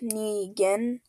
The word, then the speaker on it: Negan: beginning and then yeah Negan to Rick GS in his group Negan pronounced nean is a main character